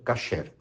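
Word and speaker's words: kasher: quer a comida cacher Alguns vão pronunciar cocher mas a maioria pronuncia cacher o que que é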